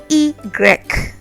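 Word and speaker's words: i grec: Y is pronounced igrek, igrek, igrek. So imagine you're trying to say egret, which is an animal, or eaglet, but with an R.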